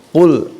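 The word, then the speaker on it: قل: Ya, itu yang harus dipegang, dan mudah-mudahan ya acuan dari ayat 1 yang pertama ya tadi pengucapan ko, jangan sampai ku. Qul a'udzu birabbin nas.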